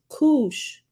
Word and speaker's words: Kush: at the bottom says the Hebrew word Kush pronounced Kush refer k-o-o-s-hoosh okay I said Kush the